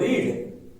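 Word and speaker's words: read: रेड मतलब होता है लाल।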